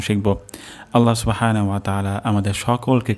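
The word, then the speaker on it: أعلى: তো এখানে উচ্চারণটি হবে আলা, আইন উচ্চারণ হবে গলার মাঝখান থেকে, আর এখানে হালকা পরিমাণ চাপ আসবে।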